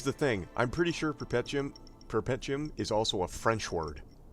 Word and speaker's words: Perpetuum: I've been saying Perpetuum because perpetual. Yes, maybe, I'm not sure. But Like, I literally don't know. Here's the thing. I'm pretty sure Perpetuum is also a French word.